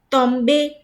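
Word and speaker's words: tombent: Tomber, Tomber, the verb ending in er, and into bracket tombe because ent is silent.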